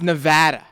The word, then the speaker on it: Nevada: It's Nevada. Jeez. Oh yeah, it's Nevada. I notice out here in the East, people pronounce it a lot differently, but I'm willing to overlook it.